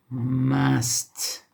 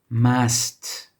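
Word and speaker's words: ماست: So here the difference is we have a long a, for which we use an aleph.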